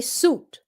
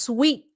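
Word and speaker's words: suite: to say suit okay suit they don't know how to pronounce it it's pronounced sweet sweet okay so then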